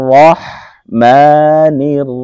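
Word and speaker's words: الرحمن: রাহমানির রাহিম রহ রহ এটা হচ্ছে বড় হা হা ডাবিয়ে পড়তে হবে হা আমরা অনেকে এইখানে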